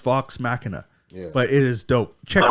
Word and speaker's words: Vox Machina: that's how you spell it yeah but it's pronounced Vox Machina but it is dope check that out but